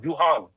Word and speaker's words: Juhan: No, my name is pronounced Juhan. Juhan. Duhan. It is Joe. It is Joe. Wait. Yeah, Juhan. Hold on. Say it one more time. Juhan. It's like saying Jew and Han together. Juhan.